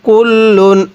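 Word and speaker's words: كُلٌّ: এরপরে কাফ লাম পেশ কুল লাম দুই পেশ লুন কুল্লুন।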